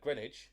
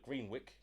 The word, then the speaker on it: Greenwich: The thing is, it's weird with London because there's places with old pronunciations like Greenwich instead of Greenwick, Yeah, I used to say Greenwich.